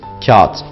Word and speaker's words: kağıt: Kağıt kelimesinde de yumuşak G'yi yine söylemeyiz ve kendinden önceki ince A'yı uzatarak söyleriz. Kağıt.